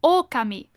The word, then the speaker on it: Okami: It's actually Okami, but Okami.